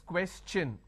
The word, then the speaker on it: question: is sure sound no when i have the word question the t i o n becomes chu na so it becomes question all right so please